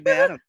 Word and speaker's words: Badham: It is Badham. Just like John Badham, who was the great director and brother to Mary Badham, who played Scout in To Kill a Mockingbird.